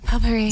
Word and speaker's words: potpourri: Alam ko may letter T doon somewhere. Potpourri. Hindi pala siya pinapuno. Potpourri. Potpourri. Potpourri.